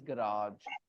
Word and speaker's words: garage: the other American so the British pronunciation is garage not garage it is garage garage okay mostly it is garage yeah some people can pronounce it garage as well but it is RA okay garage okay and then